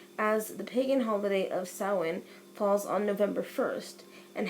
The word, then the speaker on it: Samhain: you so it looks as if it is pronounced Samhain and this actually pronounced soin and the term dates bats the ancient Celts